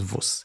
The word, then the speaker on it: Vus: Because in high school, I decided that my name is Vus, as in VUS, not VUSI, which is how it's generally written and pronounced.